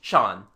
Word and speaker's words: Jean: The local pronunciation turns Jean into Chan.